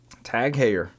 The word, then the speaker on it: Tag Heuer: Tag Heuer.